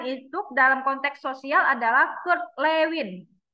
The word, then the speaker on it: Kurt Lewin: yang pertama mengembangkan itu dalam konteks sosial adalah Kurt Lewin bacanya betul Kurt Lewin betul betul ya Lewin ya jadi dia ada